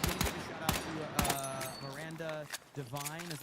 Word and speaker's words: Miranda Devine: Patriotic Gestalt says, give a shout out to Miranda Devine, is how you say her name.